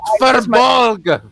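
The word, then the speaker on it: Firbolg: It's pronounced Furbolg.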